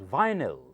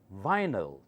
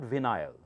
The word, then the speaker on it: vinyl: several times alkal Alkali the next one is pronounced as vinyl vinyl not venile vinyl okay give yourself one or zero the